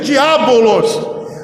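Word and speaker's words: διάβολος: disse caluniadores e emprego essa palavra se pronuncia diabolôs acusador caluniador Só aqueles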